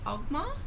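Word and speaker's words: Oghma: was reading the tome of, I can't pronounce it, but Ogma. Yeah, Ogma.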